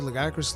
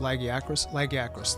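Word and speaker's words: Lagiacrus: Legac is it legacy? Lagiakris, that's the way they say it in game.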